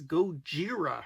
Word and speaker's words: Gojira: there today's artist is goira which is the Japanese pronunciation of Godzilla so this is a